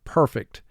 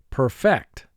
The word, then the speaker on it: perfect: pronounce the word is perfect in the first word perfect the accent mark or the emphasis is on the first syllable but if you put